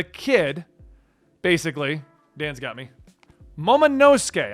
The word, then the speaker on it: Momonosuke: Momonosuke, I was just informed that's how it's pronounced in the anime.